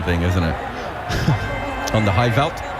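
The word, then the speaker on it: Highveld: On the high veld. Did I pronounce that right? Yeah, high felt. Yeah, it's close.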